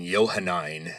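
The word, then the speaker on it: Johannine: And Yohanine is spelled J O H A N I N E.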